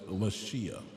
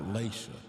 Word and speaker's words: Lashia: Your name, the way that is spelled is Lashia, not Lacia.